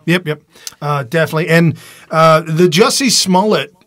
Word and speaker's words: Smollett: And the Jussie Smollett, or Smollett, as some people pronounce it. Is it French now?